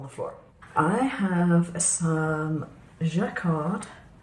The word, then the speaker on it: Jacquard: I have some Jacquard, I presume you pronounce it with a soft J, Lumiere paints.